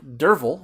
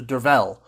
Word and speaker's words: Derfel: actually be closer to Dervel, or Dervel. I'm not sure which, but he says it's a Welsh pronunciation, and so you're going to have to forgive me if I screw those up. It's Dervel Cadarn, a former warrior